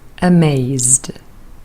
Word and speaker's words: amazed: Amazed, ed is pronounced d, amazed.